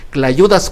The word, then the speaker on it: clayudas: Esas tortillas que aquí en Oaxaca, en los estados del sur, se les llama clayudas con C, se escribe clayudas, no con T, porque ese es un invento de los restauranteros de aquí de la ciudad de Oaxaca.